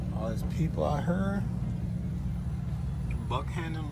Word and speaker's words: Buckhannon: this people out here Buck hand in West Virginia I was calling it buan and I feel terrible